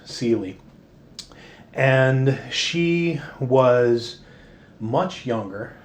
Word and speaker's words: Ceely: uh was spelled c-e-l-i-a but appalachian style was always pronounced celie today we probably call her celia but as far as i can tell her name was always pronounced sealy so it's often rendered